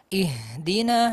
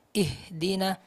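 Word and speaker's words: اهدنا: Kemudian huruf ha, misalnya, dalam ihdina sebelumnya. Ihdina harus mengalir, ihdina-sir, jangan hanya mengucapkan ih. Sebagian besar dari kita membacanya dengan jeda, ihdina, ihdina, ihdina. Itu tidak mengalir. Seharusnya mengalir , ihdina.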